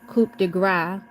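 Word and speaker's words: coup de grâce: The killing blow, the coup de grace, pronounced coup de grace, was delivered upon the American people by Franklin D.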